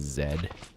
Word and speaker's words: Z: Nobody really cares that much, like they kind of use it interchangeably, but technically the Canadian pronunciation is zed.